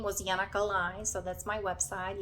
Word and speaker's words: Yana: name Yana in Europe it's actually spelled with J um here we pronounce it with Y and I always loved